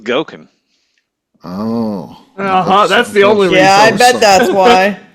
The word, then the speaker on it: Goeken: Because it rhymes with Goeken.